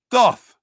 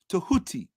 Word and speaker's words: Tahuti: See, we don't pronounce that word thoth. That's the Greek word. We pronounce it correctly. Tahoti. Tahuti. That the correct pronunciation of that word is Tahuti. You read it Latinized as thoth. But if you read it correctly, it's Tahuti. Tahuti.